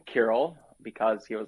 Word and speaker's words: Kiril: in north america where not a single person can say it right away do they say they say krill sorry to interrupt you